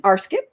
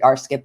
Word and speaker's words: RScP: is and she is an arsip that's religious science practitioner my late husband pronounced it arip and I loved it so I just stuck with it and I'm G to give